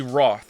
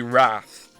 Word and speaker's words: wrath: I don't think it should be roth. It should be wrath.